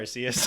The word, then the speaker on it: Arceus: Arceus.